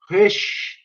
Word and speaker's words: Roesch: É a Sylvia Maria Azevedo Rush. Se escreve Roesch, né?